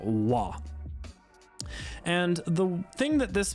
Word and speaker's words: は: our first particle again this is the character ha in Katakana but when we're using it as a particle the pronunciation is now la and the thing that